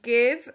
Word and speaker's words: give: the end h a v e number nine give rhymes with the live and is spelled similarly with